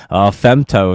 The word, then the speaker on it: Femto: Femto is spelled FEMTO, but FMTO right there.